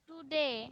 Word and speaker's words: today: টুডে উচ্চারণ আমরা কিভাবে করব? টুডে না কথাটা। এই টুটাকে হালকা করে দ্রুত উচ্চারণ করব। ডি এর উপরে একটা ধাক্কা দিব, জোরে ধাক্কা দিব।